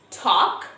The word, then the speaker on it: talk: So almond, talk, walk, salmon, not salmon. Because these four letters have a silent L.